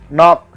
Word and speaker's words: knock: नॉक, KNOCK, नॉक, नॉक means खटखटाना, इस शब्द में के है पर साइलेंट है।